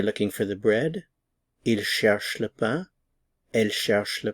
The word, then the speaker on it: cherchent: Ils cherchent le pain. Elle cherche le pain. They are looking for a pen. Ils cherchent un stylo. Elle cherche un stylo. Notice the pronunciation here. The NT is not pronounced.